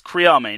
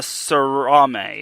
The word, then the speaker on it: Kriame: It's Kriame, not Paula Sarame. It's Kriame.